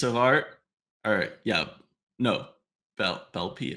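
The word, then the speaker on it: Beeple: art or yeah no Bel bpy I forgot how to say it's not blippy that's the child's uh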